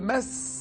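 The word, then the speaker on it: macis: quel arbre tropical pousse le mass je pense qu'on prononce comme ça m a C i pardon MS oui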